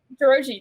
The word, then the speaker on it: Dorogi: But again, check out Kaya I don't want to mispronounce it. Dorogi? Dorogi, that's perfect.